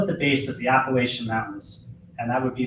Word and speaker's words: Appalachian: They settled at the base of the Appalachian Mountains, and that would be the correct pronunciation in this case, in the gentle rolling foothills of what is now called Sussex County.